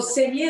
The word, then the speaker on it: saignée: Oh, saignée is to bleed.